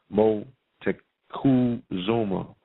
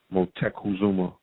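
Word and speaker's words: Motecuhzoma: of um Montezuma's name the proper pronunciation is mo tech cool Zoma motek Kazuma alright I'm going to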